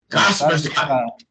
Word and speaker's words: Kaspersky: Kaspersky. A pronúncia é Kaspersky. É o nome do cara.